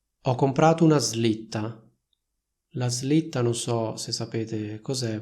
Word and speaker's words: slitta: comprato una slitta la slitta non so se sapete cos'è Vabbè comunque sia magari vi metto un'immagine questa parola si pronuncia così slitta non si pronuncia slitta molte persone sbagliano e dicono slitta poi vabbè c'è il